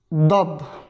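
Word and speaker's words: ضاد: kalındır Dap Dap Dap Türkçe kaynaklarda bazen Bunun yerine zat yazarlar Bu tamamen Türklerin kendi telaffuz refleksi ile ilgili bir Araplar bunu zat diye okumazlar direkt kalın bir de sesiyle dağ şekilde ifade ederler Bu yüzden kaynaklarda zat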